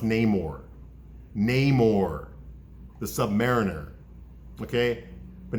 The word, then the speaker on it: Namor: is Roman spelled backwards okay it's always been pronounced Namor maymore the Submariner okay but now they're calling